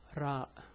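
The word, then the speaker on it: راء: See, the pronunciation is R, the name is Ra. So harf ra. So it's pronounced ra.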